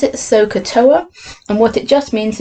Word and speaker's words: SOHCAHTOA: way to remember which equation to use you pronounce it sohcahtoa and what it just means is here's sine